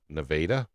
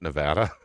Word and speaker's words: Nevada: It's spelled the same way, by the way. It's just pronounced differently because we're in Missouri.